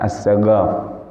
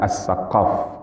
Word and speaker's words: Assegaf: ujung-ujungnya ada kemudian karenalah jadi Yaman qaf itu agak dibaca goal maka Assegaf jadi Assegaf itu sebenarnya adalah as-saqof kalau Dalam tulisannya ataupun dalam ejaannya tapi karenalah maka ini